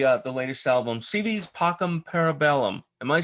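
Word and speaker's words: Pockhamparabellum: the latest album cv's pockham parabellum am i saying it right because i've heard different well it's it's i believe you can say visa or whis but other than that you got it right yeah it doesn't i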